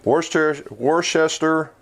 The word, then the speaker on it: Worcester: I knew I was always going to say it wrong, just like Worcestershire sauce, right? Worcester, Massachusetts.